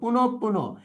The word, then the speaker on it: পুনঃপুন: যখন বিসর্গ থাকবে পরবর্তী ধ্বনিটা আমরা জানি দ্বিতীয় উচ্চারণ হয়। তাহলে কি হবে? পুন পুন।